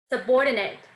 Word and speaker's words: subordinate: or nate subordinate subordinate so i'm going to go up and pitch on the ord i want to stress two vowels to the left of ate and i'm going to stress it by going up subordinate subordinate beautiful how